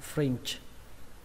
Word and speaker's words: fringe: Từ tiếp theo, đầu tiên đọc là ở, và cái từ này đọc là fringe. Các bạn nhớ là âm chờ các bạn nhé, âm chờ không bắn hơi mấy, âm chờ rung thôi.